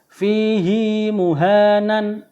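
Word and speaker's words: فيه مهانا: 19 yaitu yang berbunyi fihi muhanan illa ya di sini sebelum huruf ha itu ada huruf mati ya ya yang biasanya Itu haknya dibaca pendek ini dibaca panjang fihi muhanan illa ya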